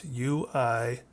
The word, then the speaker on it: Uemori: It sounds Japanese, but it is Uimori.